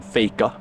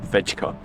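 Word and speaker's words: FEJKA: some I went to Ikea and got some faker that's how you pronounce it by the way it's not fega it's fake which means to fake it in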